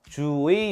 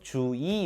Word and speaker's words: 주의: 읽어요 주의 요망이 근데 첫음절 이외의 의는 2로 발음을 허용한다고 했었죠 주의 요망 또는 주이 요망 둘 다 가능합니다 꼭 명심하세요 그냥 일단